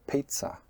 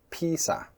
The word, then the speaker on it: pizza: For example, pizza pizza, or do you say Peesa or Pissa? Now, you can hear the difference. Pizza has a stop: pizza, and Peesa Peesa, there's no stop, or pissa, it's faster, there's still no stop.